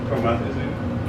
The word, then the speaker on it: promethazine: Promethazine.